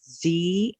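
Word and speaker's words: ze: z or here alternate pronouns that are gender-neutral pronounced see and hear they replace he and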